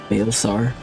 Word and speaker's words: Baelsar: Baelsar. Oh, that's how that's pronounced?